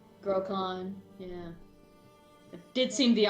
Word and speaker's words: Grokhan: You know, it's just now hitting me that my character's name rhymes with drawn. Grokhan, yeah.